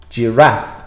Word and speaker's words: giraffe: Giraffe, very difficult spelling because it comes from an African word. G-I is a J sound. And then we have raff with an F-E at the end.